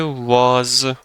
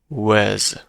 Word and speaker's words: was: سراغ تلفظ که بریم کلمه واز توی تلفظ مح کمش با صدای آ تلفظ میشه ولی محاوره و رایج با صدای ا هست یعنی به جای واز میگیم وز وز مثلا پس بعد از